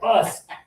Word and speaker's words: bus: A lot of people want to put it right here because look, BUS. But no, thank you, Sue. No way. Bus and fun.